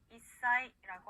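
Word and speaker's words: いっさい: 자, 단어로 살펴보면요, 한 살이라고 일본어로 말할 때는 이사이라고 하는데요. 이사이, 사행 앞에 스가 왔기 때문에 사의 영향을 받아서 시옷 받침처럼 발음이 납니다.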